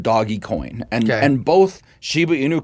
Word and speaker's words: Dogecoin: been been big on called Dogecoin that looks like it's spelled doggy coin and and both Shiba